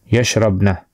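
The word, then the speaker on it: يشربن: But the only thing is you have to remember is you have to put a sukun here. Yeah, sukun on the ba for that pronunciation. Yashrabna, it's they.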